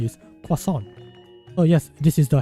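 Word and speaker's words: croissant: time I was so used to calling it cant because you know parents don't really uh my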